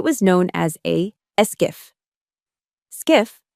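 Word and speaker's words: SCIF: Skiff, pronounced skiff, stands for sensitive compartmented information facility.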